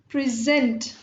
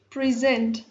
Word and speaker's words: present: and when we are focusing or stressing upon the second part of the word, it becomes a verb. Like here, present, present.